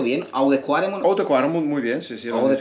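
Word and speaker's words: Oude Kwaremont: ¿Lo pronuncio bien? ¿Oude Quaremon? Oude Quaremon, muy bien.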